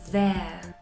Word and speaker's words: their: Por ejemplo, os digo there, there, sería E-A, there, their dresses, sus vestidos, their dresses, sus vestidos.